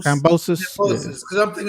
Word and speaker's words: Kambosos: How do you pronounce the other guy's name? Kambosos. Cambosos, yeah.